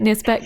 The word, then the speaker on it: NIRSpec: NIRSpec, yes.